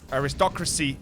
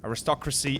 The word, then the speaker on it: Aristocracy: Aristocracy is the professional pronunciation, by the way, if somebody might not be aware. Aristocracy is the correct way to pronounce this.